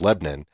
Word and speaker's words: Lebanon: called Lebanon and it's spelled like Lebanon but it's Lebanon and if this is